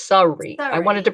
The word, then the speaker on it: Surrey: is it called surrey s-u-r-r-e-y in the uk sorry sorry so it's sorry i wanted to pronounce